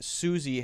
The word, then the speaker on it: Suzy: Q, how did you know that Suzy has to be pronounced with the Z sound?